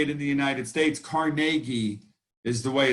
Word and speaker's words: Carnegie: that these instructions came from andrew carnegie now carnegie is the way we say it in the united states carnegie is the way it's actually pronounced but you